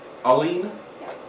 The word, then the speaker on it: Colleen: what's your sister's name Colleen accent on the first syllable bowling that's why the